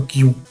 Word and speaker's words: queue: такий адаптер як черга пишеться воно Q читається просто як Q не треба його читати Q тепер роздивимось чергу черга